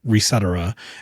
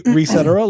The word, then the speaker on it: Resetera: There is no correct pronunciation of that word, people. It's you can say Resetera like etc., or you can say. I always pronounced it NeoGAF. Oh no. Yes, or you could say Reset Era like Reset Era.